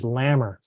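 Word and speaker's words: GLAMR: their new form and the acronym is glamor and you can remember that because it rhymes with hammer so um but it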